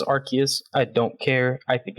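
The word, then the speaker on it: Arceus: been saying archist there are other people who pronounce it this arus I do say arus I know the I know the root word I know Pokemon official says archus I don't care I think it sounds silly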